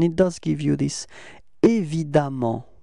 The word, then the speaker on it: évidemment: So it's évident, repeat, évident, okay, and it does give you this évidemment pronunciation, okay?